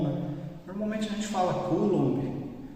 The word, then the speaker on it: Coulomb: completo dele né então como é que a gente lê em francês tem um site de